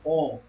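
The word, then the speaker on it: AUM: no Ocidente também, o Om, né? O Om, na verdade, a escrita dele é A-U-M. O O e M é a pronúncia.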